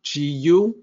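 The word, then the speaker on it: 故: it's important in this case that character is pronounced go so pinion is simple gu go and the meaning for this character it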